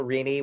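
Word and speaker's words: Rini: I will say uh uh so yeah, number one, if you only remember one thing uh that special Reinie, which is spelled R I N I.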